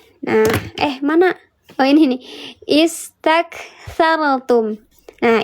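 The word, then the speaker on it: استكثرتم: Istakthartum. Nah, istak. Karena hurufnya huruf yang ketiganya 1, 2, 3. Hurufnya fathah, maka dibacanya istak. Alah bocor. Istak dibacanya.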